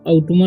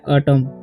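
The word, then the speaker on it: autumn: नहीं पढ़ना है ठीक अमन नहीं पढ़ना है इसे पढ़ना है अटम अटम पढ़ेंगे ओके तो यह बात का आपको ध्यान रखना है यहां पर एन का उच्चारण नहीं होता है ठीक है अब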